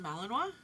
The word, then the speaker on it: Malinois: um be the scariest I've ever seen Belgian Malinois or Belgian Shepherd I didn't know that's how you pronounce that but yes all right it's it's